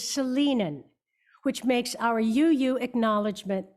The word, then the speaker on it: Salinan: I had heard the tribal name pronounced Salinian, and I have since learned the proper pronunciation is Salinan, which makes our UU acknowledgement that much more accurate.